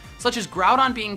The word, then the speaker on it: Groudon: of the most popular box are legendary Pokemon pronounced wrong such as grout on being called ground on or Groudon and hoo being called ho ho